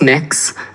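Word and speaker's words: Mx: Cameron tell me what you're you're proposing it's pronounced mix um mix is how would you like me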